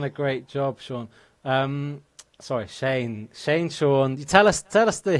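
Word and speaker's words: Séan: so it's Sean, and my name has an accent on the E, so it's Shane.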